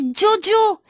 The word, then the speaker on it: Djodjo: nous a dit joachim il faut prononcer diodio tétouan jo hakim haddi